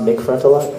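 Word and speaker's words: MC Frontalot: for NC Frontalot um I believe it's pronounced MC front a lot somay that's racist whatever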